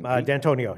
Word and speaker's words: D'Antoni: How do you pronounce that name? D'Antonio.